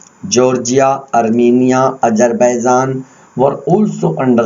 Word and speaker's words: tsar: 1914 jar, note TSAR, इसमें T silent है, okay. सो जार बोला जाएगा।